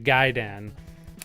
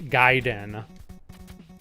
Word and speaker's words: Gaiden: oh is it Ninja gay Dan or ninja gaidan it is Gaiden because that would be how you'd pronounce it in Japanese anyway I do remember